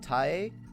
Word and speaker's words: Tae: Alright, I'm pretty sure that her name is pronounced Tae, like Ta-e.